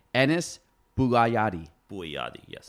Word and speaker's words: Bouayadi: Bouayadi, yes. Bouayadi. Yep. All right, we're not going to judge my pronunciation skills.